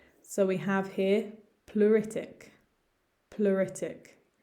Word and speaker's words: pleuritic: we have here pluritic pluritic again ignore some of the letters ignore that e and just think of the u pluritic onset onset this